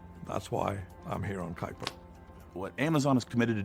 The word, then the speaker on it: Kuiper: we need Amazon satellites so this is Amazon Kuiper even though it's spelled Cooper let's say how they say it Kuiper anyways Amazon Kuiper um